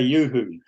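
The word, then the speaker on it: UHU: how'd you say Mark how do you say Yoo-hoo yeah oh it's um it used to be an ad campaign don't say glue say Yoo-hoo yeah he says it the right way and we we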